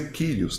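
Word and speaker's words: Κύριος: Se escreve Curios, mas se lê Kyrios, tá certo?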